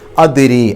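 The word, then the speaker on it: أدري: അക്ഷരമാണ് അതിനെ എടുത്തു പറയണം ദ് എന്നുള്ള ശബ്ദം വെളിവായി കേൾക്കണം അദരി അപ്പ ദ് എന്നുള്ളത് എടുത്തു പറയാം രീ എന്നുള്ളിടത്ത് റാിന് കസർ ആയതുകൊണ്ട് റി എന്നല്ല രീ എന്നുള്ള ഉച്ചാരണം കൊടുക്കുക പിന്നെ ആ നീട്ടൽ രീ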